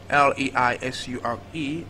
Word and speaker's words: leisure: We have T-R-E-A-S-U-R-E, and then we have options V-A-P-O-U-R, B we have T-R-E-A-S-O-N, C we have L-E-I-S-U-R-E, and then D we have T-E-X-T-U-R-E. So the word given is pronounced treasure, treasure, treasure.